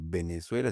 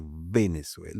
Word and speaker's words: Venezuela: que nosotros decimos varón, Venezuela, y no se debería decir Venezuela, se debería decir Venezuela. Venezuela. Es dentilabial, una B. La B es bilabial, bilabial, la dice.